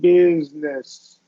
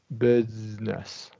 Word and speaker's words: business: yeah nice and then with business I want you to hold that z a little bit business business okay yeah okay so